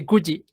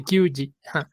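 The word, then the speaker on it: 九時: decirles nueve en punto se dice Gucci no se dice kyuji las nueve en punto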